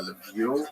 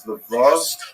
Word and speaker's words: Lviv: having preference, but it's known today as Lviv, or Lviv in Galician pronunciation. It's also known as Lvov to Poles.